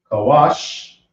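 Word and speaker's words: כוש: Now we have Kush, which is pronounced Kawash.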